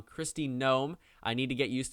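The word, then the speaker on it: Kristi Noem: sorry i am sorry i have been pronouncing her name wrong christie gnome i need to get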